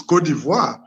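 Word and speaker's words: Côte d'Ivoire: of the country because in french it's codivoir meaning in english ivory because but since he passed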